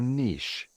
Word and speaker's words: niche: I'm so glad George pronounces niche correctly, because it is a French-derived word and not a German-derived word, so it's niche.